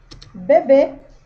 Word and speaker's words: bebê: Já o acento circunflexo, ele também vai indicar a sílaba tônica da palavra, porém, ele vai indicar um som mais fechado nas vogais A e E. Exemplo, a palavra bebê. Um bebê, ó. Bebê. Ó, você meio que fecha a boca para falar.